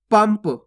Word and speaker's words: पंप: अगर पा आएगा तो आधा माँ का उच्चारण करेंगे, तो कैसे पढ़ेंगे? पंप।